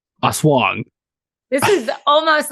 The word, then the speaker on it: aswang: How I like to pronounce it, it's called an asswang. But I think it's really pronounced aswang.